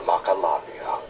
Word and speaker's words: Macalania: tied of our miserable fortune and fled to Macalania oh that's how you pronounce it to wither away together with the